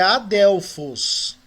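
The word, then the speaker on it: ἀδελφός: Então essa palavra aí é Adelfos.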